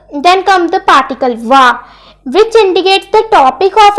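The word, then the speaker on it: は: Okay, so when you use wa as a particle, you need to pronounce like wa, but in other words, it pronounced as ha.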